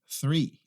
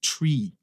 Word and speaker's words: three: Primeiro a gente põe a língua no meio dos dentes. Depois a gente pronuncia a palavra. Então, ó, 2 passos. Three. Three. Three. Three, tá? Não é tree. Tree significa outra coisa, que é árvore. Aqui é three.